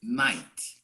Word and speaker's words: knight: the last one is knight i don't pronounce decay the k in front is never pronounced you don't say i